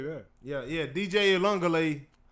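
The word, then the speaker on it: Uiagalelei: DJ Elungale, I believe that's how you say his name, is now the quarterback over at Florida State as well.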